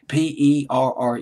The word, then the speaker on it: Perren: in just a minute but Freddie / apparent PE rren in case of Miss pronouncing his name Freddie parent always been kind